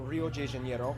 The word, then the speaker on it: Rio de Janeiro: Brasilia was actually built in 1960 as they were switching from the old capital, Rio de Janeiro. That's right, it's pronounced Rio it looks de like Janeiro, Twin Towers.